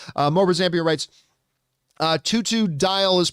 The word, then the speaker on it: Totodile: more zambia writes uh tutu dial is pronounced totodile totodile okay oh i guess it's supposed to rhyme with crocodile dundee totodile okay i get